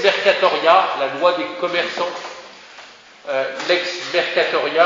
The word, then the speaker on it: lex mercatoria: Lex mercatoria, alors c'est comme ça se prononce, en deux mots, LEX, petit mercatoria, M-E-R-C-A-T-O-R-I-A, lex mercatoria, la loi des marchands.